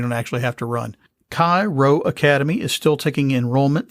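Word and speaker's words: Chi Rho: actually have to run kai row academy is still taking enrollment through today august the 7th cairo i'll spell that c-h-i new word r-h-o academy offers a classical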